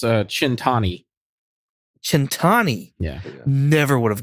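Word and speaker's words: Cent'anni: Centina. Yeah. Centina. No, it's Chintani.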